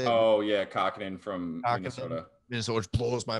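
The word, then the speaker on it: Kähkönen: Capo Kakkonen, is that how you say it? Oh yeah, Kakkonen from Minnesota, which blows my mind on that one.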